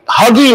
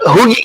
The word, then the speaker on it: Hugie: Shamari, you guys say Huggy, not Hoogie. How do you say his name? Shamari Hugie.